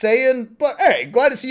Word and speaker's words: Saiyan: Yeah, they also pronounce Saiyan as Scion.